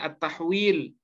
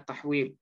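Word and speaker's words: التحويل: Huruf 'H' ini dibaca sebagai 'attahwil'. Guru saya, Kiai Mustofa Yaqub, mengajari saya untuk membacanya sebagai 'attahwil'. Namun dalam buku 'Taysir', cukup dibaca sebagai 'ha'. Memperpanjang bunyi 'H'.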